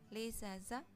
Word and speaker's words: les achats: kosakata-kosakata yang berhubungan dengan les achats atau jual beli, les achats gitu ya, digabungkan S sama A-nya berubah menjadi Z.